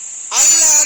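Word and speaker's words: أَلَّا: Allah di sini asalnya dia adalah an kemudian la. Jadi nun sukun ketemu lam. Hukum bacanya apa? Idgham bila gunnah. Dia tidak tulis sesuai dengan tulisannya. Tapi di sini langsung diidghamkan secara tertulis. Sehingga di sini dibaca Allah, nunnya dibuang, langsung lamnya ditasydid.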